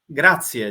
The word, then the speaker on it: grazie: Grazie, just grazie. Grazie. Sound like gracias in Spanish, but it's Yeah, grazie. grazie. Ah, Grazie, nice. prego. Oh, It's a grazie. pleasure for me. Grazie.